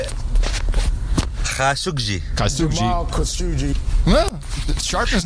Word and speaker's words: Khashoggi: Jamal Khashoggi. Khashoggi. And you have an ISO. Who's pronouncing it?